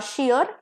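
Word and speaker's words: shear: pair is शियर okay S एच ई ए आर शियर एंड शियर same pronunciation पहले वाला शेयर का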